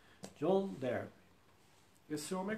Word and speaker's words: Darby: Escreve, a gente pronuncia Derby, mas ele escreve D-A, né? R-B-Y. John Darby.